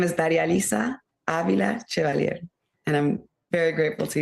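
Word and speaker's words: Darializa Avila Chevalier: My name is Daria-Lisa Avila-Chevalier, and I'm very grateful to you, Amy, for allowing me to do that.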